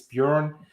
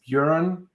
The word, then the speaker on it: Björn: It's Björn, or it's a Scandinavian name, so it's Björn. But most of the countries don't pronounce the Ö.